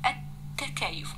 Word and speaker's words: التكيف: التكيف، التكيف ما نطقتش اللام والحرف مشدد، يبقى إيه؟ لام شمسية.